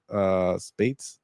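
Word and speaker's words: Speights: So maybe rhymes with 8 Spates.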